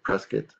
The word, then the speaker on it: Prescott: house in Prescott Arizona the locals they usually say press Kate and some sage will say Prescott so I can't claim